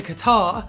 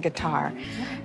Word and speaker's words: Qatar: the bedroom you know i'd almost completely forgotten that she pronounced his guitar like that i tried to figure out if it was an american thing to pronounce qatar with a g but i think she's